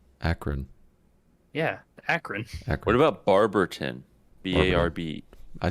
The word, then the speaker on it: Barberton: yeah Akron what about Barberton b-a-r-b I say Barbara b-a-r-b-e-r-t-o-n but it's pronounced in Barberton I'm glad that you put emphasis on the T Debbie and don't use a d Barberton people say Barberton